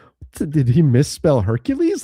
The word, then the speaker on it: Hercule: That's Hercules without an S? Is it Hercules? Is it Hercule? Hercule. That's how you say it, Hercule? It's just Hercule.